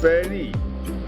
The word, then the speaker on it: Paidi: To the east is Pairi. Paidi and pronounced Pairi.